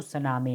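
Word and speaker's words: tsunami: this people ब save तो सुनामी नहीं बोलेंगे इसमें सुनामी टी साइलेंट है तो क्या बोलते हैं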